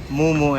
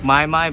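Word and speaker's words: Му-Му: this is actually pronounced moomoo and russian so i know it looks like maimai but it's not i love this place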